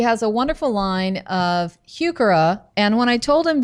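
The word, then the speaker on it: Heuchera: day and he called HOA HOA and so HOA is the proper pronunciation it is but you know huk HOA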